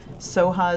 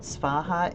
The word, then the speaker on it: Svaha: Soha is the Tibetan pronunciation of the Sanskrit Svaha.